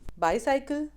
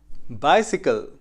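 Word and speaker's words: bicycle: 10 words जो हम गलत प्रोनाउंस करते हैं। Film, film, bulb, bulb, vehicle, vehicle, डिटरमाइन, डिटरमिन, बाईसाइकिल, बाइसिकल, relative, relative, economy, economy, एक्सेट्रा, एटसेट्रा, engine, engine, Saturday, Saturday.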